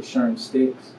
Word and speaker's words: Sherm STX: me sherm stx uh i i pronounce it sherm sticks oh well excuse me